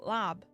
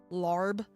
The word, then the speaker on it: larb: I think that's lab. Or what a lot of Americans say it, larb.